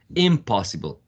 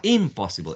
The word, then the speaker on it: impossible: see that um the that prefix is not um stressed possible you don't say uh impossible impossible so you see that some